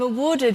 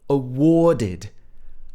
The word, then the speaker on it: awarded: something called an obe did you hear how she said awarded awarded so this is the sound or again if this was in the american accent it would be awarded it would have this r-colored er sound awarded but in the british accent